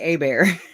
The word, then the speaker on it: Hebert: Um, that guy Adam Heberts, or I don't even know how to say it because I say a bear. That's where I come from. Hebert is a bear.